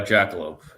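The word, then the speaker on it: Jackalope: Is it Jackal Hop or Jackaloop? I'm told it's uh jackaloupe in terms of how you say it.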